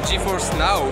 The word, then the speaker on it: GeForce Now: qui sont incrustés à la tablette et ensuite GeForce now ça se prononce ainsi les jeux vraiment PC qui sont